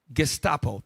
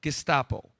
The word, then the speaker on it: Gestapo: pull up the term Gestapo. Thank you. I pronounced it wrong. Gestapo.